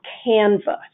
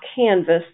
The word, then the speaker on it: Canva: and another thing called canva canv a not canvas canva canva is a great online system